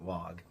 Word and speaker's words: Waaagh: And as an aside, don't at me for saying the G. Everybody knows that orcs from south of the galactic equator pronounce the G.